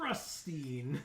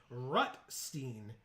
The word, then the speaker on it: Rutstein: Old Rustine. Rutstein.